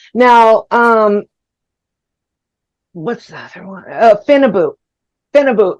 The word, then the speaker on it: Phenibut: Phenibut, if I'm saying that right. It's spelled funny, but it's like PHENBUT.